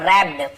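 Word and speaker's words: wrapped: रैप्ड, यहाँ पे W silent होता है, लेकिन हम इसे लिखेंगे जरूर, पढ़े रैप्ड ऐसे नहीं पढ़ेंगे, वह नहीं पढ़ना, केवल रैप्ड।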